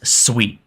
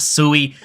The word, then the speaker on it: Sui: Sweet It Is Not sui I've been corrected multiple times so if you want to be on the better half of the sweet Community just pronounce it sweet now the project itself